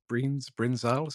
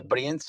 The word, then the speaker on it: Brienz: Brinzals, am I getting the pronunciation there correct? Yeah, Brienz is basically is a slope that is located